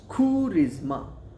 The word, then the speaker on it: charisma: But the pronunciation is khurizma.